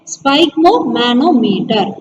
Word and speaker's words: sphygmomanometer: சொல்லுங்க, SPHY, ஸ்பை SPHYG, spike. Okay. MO, mo. MA, ma. NO, no. METR, meter. Okay. Spike mo, manometer.